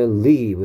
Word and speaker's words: live: lives는 life의 복수형이야 그래서 이건 발음이 중요합니다 live고요 여기에 i는 e 소리 나고 있고요 여기에 i는 life i 소리 나는 녀석의 복수형이니까 lives고요 live happy lives 행복한